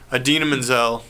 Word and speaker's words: Idina Menzel: menzel thank you I couldn't remember how to pronounce her name idina menzel I always do the shitty pronunciation I always